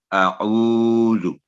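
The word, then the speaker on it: أعوذ: اور زو کی آواز بھی لمبی نہ ہو, اعوذ. تو یہ ہے اس کا صحیح تلفظ.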